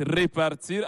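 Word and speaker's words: répartir: verbe c'est-à-dire retourner et le deuxème qui se prononce repartir avec accent égu sur le e il est du 2è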